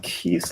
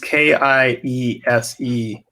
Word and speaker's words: Kiese: I believe it's pronounced Keith Lehman. I'm checking online. Yeah, Keith, Kiese, Lehman spelled Laymon.